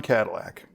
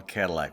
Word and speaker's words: Cadillac: me help you out I will give this in the more traditional uh American English pronunciation hey how about that yes